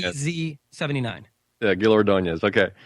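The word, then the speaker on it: Ordóñez: e z79 yeah Gil ordones okay ordones see I just didn't know how to pronounce the last name and I knew I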